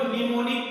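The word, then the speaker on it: mnemonic: देखिए मैं लिख दे रहा हूं निमोनिक कोड, क्योंकि इसमें एम साइलेंट होता है, एम एन ई एम ओ एन IC निमोनिक्स बोलते हैं इसको, निमोनिक्स।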